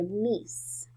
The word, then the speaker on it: niece: Niece has the sound n-e-s. So the first sound n. Oops. Go to the next line. N-e-s. And that sound at the end is spelled with a C-E.